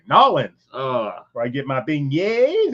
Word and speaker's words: New Orleans: I got to say it right. Norins where I get my beignet and listen to my jazz music and root for the Saints.